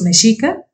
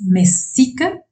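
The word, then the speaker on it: Mexica: Como el sonido suave de la sh no existe en su lenguaje español. A nosotros los meshica nos llamaron por mucho tiempo, ya sea los Messica o Messica.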